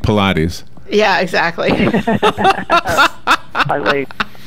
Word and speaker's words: Pilates: Pilates. It is Pilates. It's not Pilates. That's right. I don't see three syllables.